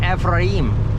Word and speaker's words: Ephraim: And the second word is E-P-H-R-A-I-M, like Ephraim. I would say, probably if it's like, you say it in Jewish, it'd probably be Ephraim or German. And I said, how do you say it? He says, Ephraim, Mount Ephraim.